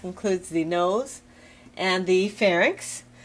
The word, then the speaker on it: pharynx: Now remember, pharynx, it's inx, Y and X, not NYX. It's not pharynx, it's pharynx. That's a common mistake that people make when they pronounce it and actually spell it.